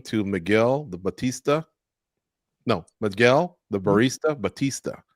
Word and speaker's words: Bautista: You're Bautista, so that it rhymes with Barista.